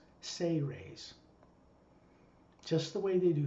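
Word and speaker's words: Seres: Even though it's spelled S-E-R-E-S, phonetically it's pronounced as if it's spelled S-A-Y-R-A-Y-S. Ceres.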